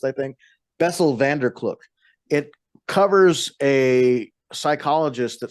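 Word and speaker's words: Bessel van der Kolk: I can't pronounce Bessel van der Kloek correctly because that's how his name's pronounced, I think. Bessel van der Kloek.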